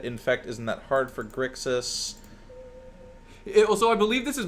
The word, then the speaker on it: Grixis: It is Grix-is, not Grissix. I do mispronounce that a lot, so... Reasonable people can disagree on many things, but the pronunciation of an X is not one of them.